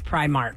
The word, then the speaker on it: Primark: it they say prar it's Primark cuz it's spelled p r i Mark and there you can